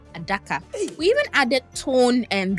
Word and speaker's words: Adaka: Generally our languages prefer open syllables to ara which is Portuguese for box became a daka.